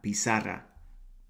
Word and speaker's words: pizarra: Second of all, el profe fijó, preterite tense, su atención en la pizarra. Try and roll that R if you can.